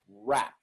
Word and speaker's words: wrap: the word is pronounced all of those words that begin with wr their only signaling that you need to round your lips to pronounce the initial r so you say wrap wrap you don't say